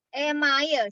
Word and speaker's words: email: gigi disebut dengan email Jangan dibaca Imel Ya iya e-mail gitu aja Indonesia aja bacanya Ya email gigi itu